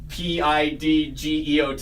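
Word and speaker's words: Pidgeot: the way said earlier it's pronounced PID geot yeah I just wrote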